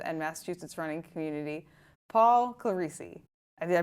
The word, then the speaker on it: Clerici: Paul Claricei, did I pronounce that correctly, Paul?